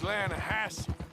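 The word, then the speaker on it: Lannahechee: no no no no the the lahache it runs right near here yeah but it's pronounced lassi why is everything in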